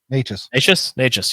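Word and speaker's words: Nečas: Natchez, yes, Natchez.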